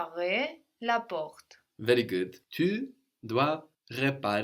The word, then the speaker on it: porte: r.e.m T E so the final e means the consonant isn't on the end of the word anymore and so we know that we should pronounce it pause so we said